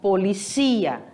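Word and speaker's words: policía: cognato que ele tem ele é um heterotonico ele tem a mudança de sílaba tônica em português polícia em espanhol policia certo e a palavra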